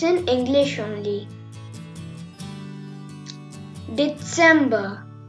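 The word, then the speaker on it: Dezember: December. Here TS is there. That's why I told you December.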